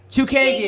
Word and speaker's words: Chookagian: Chookagian.